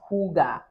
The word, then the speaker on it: hygge: But to my surprise, it's spelled that way and then it's pronounced Hygge when there's no letter O in the word.